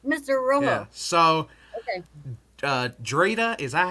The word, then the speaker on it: Dritta: Drita, is that how you say it? Dri. Is it You Drita? can call me. Yeah. Drita.